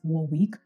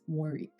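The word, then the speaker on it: Warwick: University of War so I pronounced it as War week or the breeds call it wari and there was this colleague of mine who was like oh no Bola it's not pronounced War week it's pronounced wari and I remember just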